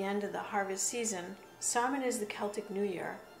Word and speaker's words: Samhain: It was called Samhain, and sometimes pronounced Samhain.